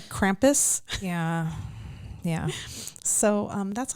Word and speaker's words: Krampus: it's my fault um we kept saying Krampus and it's actually Krampus yeah yeah so um